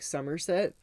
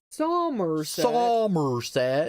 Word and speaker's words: Somerset: Because English people don't normally say the R, so instead of them saying like Somerset, they're like Somerset. Freaking Somerset. So like to pronounce the R, you really have to go out of your way.